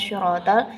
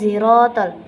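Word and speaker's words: صراط: Kalau riwayat lain itu kan membacanya ihdinas syiratal, sedangkan pada riwayat Halaf ini cara membacanya adalah ihdinas ziratal. Huruf so itu diganti dengan huruf za.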